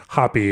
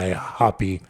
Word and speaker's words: Hapi: Yes, and I should say when we say Hoppy, it's spelled Hapi, Hoppy. Yeah, exactly.